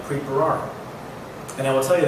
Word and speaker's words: Bharara: Their names, by the way, don't sound like Bharara. For you Punjabis, that's how you pronounce my name.